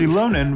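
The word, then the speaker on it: Xilonen: Shilonen will be our new playable character in version 5.1.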